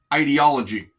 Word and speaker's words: ideology: to talk about was, it's pronounced two different ways. The first way that probably most people have heard is ideology. I like the sound of that one slightly better because it sounds like idea.